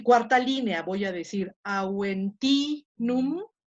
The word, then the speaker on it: Aventinum: estoy poniendo en rojo, solamente las que tienen el macrón, ahí va a caer el acento.